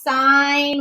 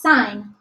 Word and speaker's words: sine: know that this is sine with an e I it's important that you know how to spell it it's not sin it's sign it really drives me